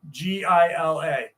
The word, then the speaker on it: Gila: If you ever want to look up Gila, it's spelled with a G. Gila.